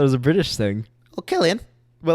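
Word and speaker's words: Cillian: Murphy has probably been Brazilian I think it's Killian kill the G right what the like spelled like Gillian why the would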